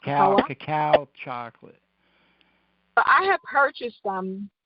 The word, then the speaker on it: cacao: the bone marrow so you had mentioned um cacawa that's how it's pronounced cacao chocolate I have purchased them one day but